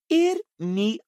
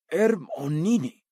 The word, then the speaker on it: Hermione: Hermione agora ensinava Krum a pronunciar seu nome corretamente. Ele não parava de chamá-la de Hermione. Hermione, dizia ela, lenta e claramente. Hermonine.